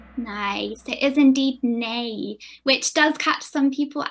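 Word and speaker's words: ναι: sign me nice it is indeed nay which does catch some people out sometimes because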